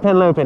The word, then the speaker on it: Henlopen: Cape Henlopen. Is that how you pronounce it? Cape Henlopen. Yeah.